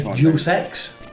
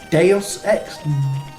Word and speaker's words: Deus Ex: wrong for a long time i obviously say juicex apparently he's probably deus ex deus ex deus ex what you got to